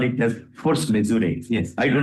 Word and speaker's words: force majeure: How we should pronounce it? As force majeure, this is what our